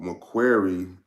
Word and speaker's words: Macquarie: And bank goes by the name of Macquarie, I believe it's pronounced.